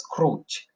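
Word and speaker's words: Krutch: by Joseph wood Crouch remember this one has to be pronounced as Crouch Lewis begins with in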